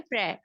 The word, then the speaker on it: pre: Words हैं वो हैं प्रे। प्रे means before, PRE, प्री। प्री पढ़ते हैं वैसे, लेकिन हम प्रेपोजिशन में इसको प्रे प्रोनाउंस करते हैं।